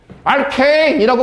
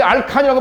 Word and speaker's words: 알케인: 알케인이라고 발음해야 되는데 알칸이라고 발음하니까 낯설어서 그래?